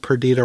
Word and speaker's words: Perdita: It's not the same, but it only struck me as I was writing the notes that Perdita rhymes with Anita.